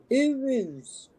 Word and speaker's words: Urus: A ruse? Use? Ah, right. All right. Urus. That's how you pronounce it.